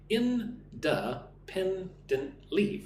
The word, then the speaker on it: independently: Independently. Five syllables. Independently. Independently. But the emphasis on the third syllable. Pen.